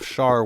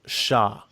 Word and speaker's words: Char: but my pronunciation of char was wrong oh apparently in Japanese it's pronounced Shah you know I'm saying